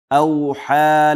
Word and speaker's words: أوحى: ربك أوحى لها. بأن ربك أوحى لها. أوحى واو کې به شونډې مکمل راغونډېږي تر څو واو معروف تلفظ، واو پورا او کامل تلفظ.